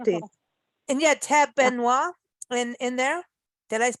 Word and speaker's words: Benoit: Benoit in there. Did I pronounce Yeah.